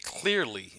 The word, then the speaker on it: Qlearly: new bookmark manager name clearly and I think that's how you pronounce this it's cute le AR ly dot-com makes me think